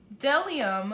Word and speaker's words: Bdellium: goodie bag is this Patel iam sorry the B is silent I learned that at the show Delhi um lipstick and can we